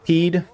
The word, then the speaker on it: Pied: We're getting close on to the 9th Regiment, Chasseurs à Pied. That's Pied. It's like pie but pied.